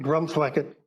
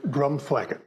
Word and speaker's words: Drumthwacket: word for wooded Hill to pronounce the name drum flacket properly you need to put your tongue between your teeth and say the word drum flacket give it a try drum flacket yeah